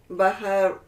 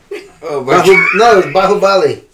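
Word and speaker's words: Baahubali: Bahabali. Baharuk. Bahabli. Bahalabli. Bahubali. Remember the pronunciation, they said Bahubali.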